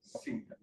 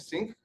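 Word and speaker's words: sinc: So this is pronounced sync and sync but with a C.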